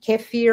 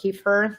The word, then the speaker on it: kefir: Uh, once in a while I might get some kefir or keifer, depending how you say it.